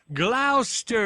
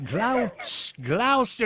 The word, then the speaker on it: Gloucester: Glouster. There's no H in it. No way. Glouster. Is that the same way you pronounce the main one up there?